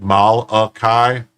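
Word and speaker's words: Mylaki: M Y L A K I is pronounced Malakai.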